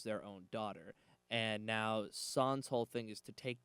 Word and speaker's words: San: Her name's San, if I'm pronouncing that right. San, Yes, you are.